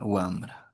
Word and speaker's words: wambra: No hay una bra en el quechua o no hay una expresión de esta forma. Entonces ese ra a nivelológico y hay una interferencia lingüística nos hace pronunciar como si fuese una bra. Entonces siempre el sonido es sencillo, breve para nosotros para poder escribir la palabra wambra, ya runa, eh ringri en esos contextos.